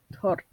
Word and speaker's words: Tord: Yeah, it's great to have you here, Todd, Matt said with a smile as he said Tord's name wrong. Tord, he corrected him.